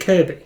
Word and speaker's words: Kirkby: So, it's spelled Kirkby but pronounced Kirby.